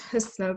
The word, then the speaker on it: Husnaa: hear from later um my name is pronounced husno but i appreciate your effort um i'll read a